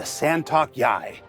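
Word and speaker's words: San'tok.yāi: latest Xi'an Fighter the santok Yai santok yai the scent it's come on it's pronounced just like it's spelled but because we just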